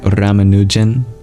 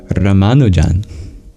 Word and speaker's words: Ramanujan: I know some Sanskrit I think I have a better way of pronouncing his name ranuan something like that ranuan maybe depending on where the long vowels are but no you had